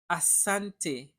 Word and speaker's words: asante: Talking about stress in Swahili words, the stress is almost always falls on the second to last syllable. The word habari, we stress the syllable ba. Habari, habari. Asante, asante.